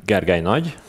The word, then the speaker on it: Gergely Nagy: so genji riemann and kibana as announced i'm gargaynoj usually known as which can be pronounced by people not from hungary so if